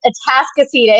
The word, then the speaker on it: Atascocita: Atascocita. Did I say that right? Say it right, but it is Atascocita.